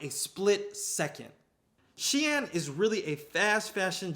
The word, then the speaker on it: Shein: The last company, and this is a company that these young folk be using, is Shein. Shein, I'm probably saying it wrong. It's pronounced Shein.